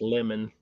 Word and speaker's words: Lemon: anybody wants to know how to pronounce my last name it's lemon it's just like the fruit it just spelled in